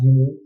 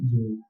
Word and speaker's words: Jini: So the word genie means the David. It's pronounced like a genie, that is Geni genie.